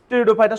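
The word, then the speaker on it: Pteridophyta: তো এখানে পির উচ্চারণটা হবে না আর কি।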